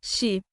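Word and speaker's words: sídhe: por espíritos conhecidos como sidir pronuncia-se shi que eram vistos como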